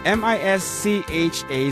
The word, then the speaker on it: Mischa: Pero Mischa ka no? The pronunciation. Yeah, M-I-S-C-H-A. So, yes, Mischa.